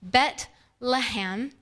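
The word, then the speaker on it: בית לחם: of the name bethlehem interestingly in hebrew it's pronounced bet laham and the literal translation is house of bread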